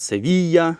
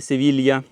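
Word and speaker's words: Sevilla: Паею, назва її Паея, але мабуть через двійне л в назві транслітерація в Україні є як паелія, але двойне л в Іспанії читається як й, тому це є паея, так само як місто, наприклад, Севія, а не Севілья. І острів Майорка, а не Мальорка.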